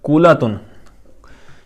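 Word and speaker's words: كُلَّة: اچھا، کولاتن، یہ کلت نہیں ہے، کلہ نہیں ہے، مطلب لام کو تشدید کے ساتھ نہیں پڑھیں گے.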